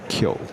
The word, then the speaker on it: Keogh: So it's pronounced like a karate move. Kyo.